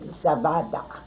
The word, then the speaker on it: Zawada: Okay, but my mom's name is correct, Zawada. It's pronounced in Polish. Zawada.